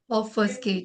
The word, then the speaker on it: obfuscate: This is how it pronounced, my dear shining stars. You all can go through it. Obfuscate. Obfuscate. Obfuscate. Ma'am, Yeah. B is silent. Oh, B is there, but little pronounce is there.